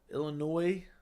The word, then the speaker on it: Illinois: what you're saying there Illinois the S is silent do ever because everyone pronounce it that way though I feel like most people say Illinois but I know what you mean it's Illinois but thank you for